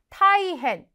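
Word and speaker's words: 大変: 자 매우 큰일이란 표현 대단히 타이헨 나이 헨이 아니라 타이헨 자 이번에는 앞에서 우리가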